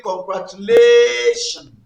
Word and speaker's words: congratulations: So from the word congratulation, congratulations. The last syllables, which also happen to be the first coming from the right, is shun, and the second one is lay. So that means, and the rule says second syllable from right to left. That is, it falls after shun. The next one is lay. So it's going to be congratulations.